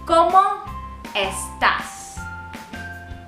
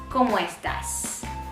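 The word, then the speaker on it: cómo estás: you repeat after me como estas como estas okay so we really don't pronounce these words separately you try to join them so it's como estas como estas okay the point is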